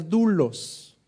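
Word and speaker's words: δοῦλος: Hay una palabrita muy especial que en el Nuevo Testamento originalmente se pronuncia doulos, que significa siervo.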